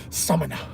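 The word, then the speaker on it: Samaná: Like some Dominicans I was talking to recently, they said, no, it's Samana. I said, okay, I'm saying Samana. They said, no, you gotta put the stress on the A, different. Samana.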